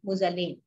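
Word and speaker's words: Magellan: তিনি, তার নাম ছিলেন কি, ফার্দিনান্দ মুজালিন। তার নাম কি ছিলেন? তার নাম ছিল ফার্দিনান্দ মুজালিন অথবা মেজিলন, অথবা অনেকে উচ্চারণ করে মুজালিন, উচ্চারণ করে মেজিলন।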